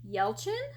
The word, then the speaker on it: Yelchin: i've never heard of um it's by eugene yelchin i think is how you say the last